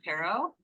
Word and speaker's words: Taro: um we have John Taro is that the right pronunciation yes yes thank you I appreciate it